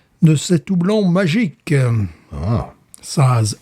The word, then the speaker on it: Saaz: Saaz, S-A-A-Z. Bon, je te le prononce à la slovaque, pas à la tchèque, évidemment.